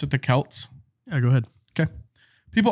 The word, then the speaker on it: Celts: Halloween so the Celts so that's how you pronounce it the Celts yeah go ahead okay people also believe they